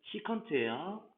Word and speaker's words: 시컨트: 이제 COSEC, 이거 코시컨트라고 읽어요. 코시컨트. 그 다음 얘는 SEC는 시컨트예요.